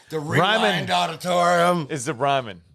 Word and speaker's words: Ryman: You get to play at the Ryan. Ryman. Sorry. Ryman. What'd you call it? Ryan. So I just wouldn't pronounce it right.